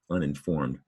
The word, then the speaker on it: uninformed: There's a second N up top. Not only that, the word in, in is in the top word for an extra syllable, in.